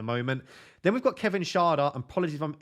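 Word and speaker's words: Schade: then we've got Kevin Sharda and apology from mispronouncing it is I think it's German so Sharda I think that's correct he is someone again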